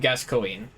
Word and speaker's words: Gascoigne: I always said Gascoigne. Okay, so like pronouncing all the different syllables in it. That's valid.